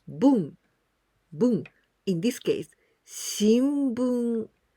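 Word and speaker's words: 聞: We pronounce this kanji ki from the verb kikimasu. Kikimasu, it means to listen or to hear. In onyomi, we pronounce bun.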